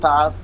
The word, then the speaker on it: Thoth: don't even know how to properly pronounce his name. All right, they really It's don't. Toth.